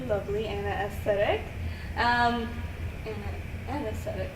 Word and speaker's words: Ana Aesthetic: here with the lovely Anna aesthetic um an an aesthetic an aesthetic okay I said it right the first time